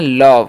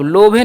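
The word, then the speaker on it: love: तो यहां पर ल हो गया भी से व तो इसे हम पढ़ते हैं लव। क्या पढ़ते हैं? लव। लोभें नहीं पढ़ना है या लोभ नहीं पढ़ना है। दोनों गलत हो जाता है।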